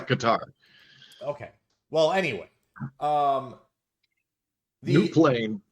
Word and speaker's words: Qatar: So Google says it's Qatar. Like that's it gives the phonetic pronunciation. No, you hit a button and it says it out loud and you can hear it in your speakers. It says Qatar. Okay. This is Qatar.